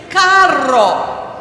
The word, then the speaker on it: carro: That one's a little more difficult because you have to roll your R's. Can you go rrrr? I have some friends who go and so the word for car in Spanish is carro. The word for dog is perro.